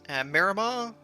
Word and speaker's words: Miramar: i chose it today is how do you pronounce this military airfield is it miramar miramar not so sure but uh i guess